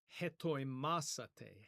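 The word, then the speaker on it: ἑτοιμάσατε: And those of you who are accustomed to Erasmian pronunciation, you would pronounce it hetoimasate, hetoimasate. But in Koine Greek, it would be something more like etimasate, etimasate.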